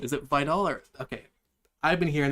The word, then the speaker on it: Vidal: Is it Vidal or Okay, I've been hearing the comment comment commentators, excuse me, saying Videl.